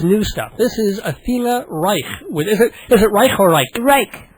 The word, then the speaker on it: Reich: But Reich, well, you can pronounce it anyway, but I just say Reich. Okay. Like bike.